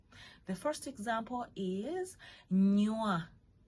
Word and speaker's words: nywa: Okay, so first of all, let's go ahead and give some examples of 4-letter syllables. The first example is nywa. Nywa, like drinking something.